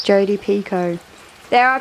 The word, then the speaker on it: Picoult: Jodi Picoult. So that means the T is silent. Jodi Picoult.